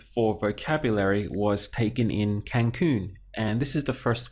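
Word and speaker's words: Cancún: similar it's just that Spanish has an accent over the U at the end and they have to do that really because the pronunciation is Cancun otherwise if they didn't have the accent will be tan they would stress the syllable before last as always so this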